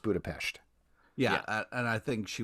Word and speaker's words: Budapest: It is pronounced Budapest.